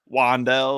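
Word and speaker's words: Wan'Dale: mispronounce uh wandel Robinson it actually is wandel like with the w so Brad can pronounce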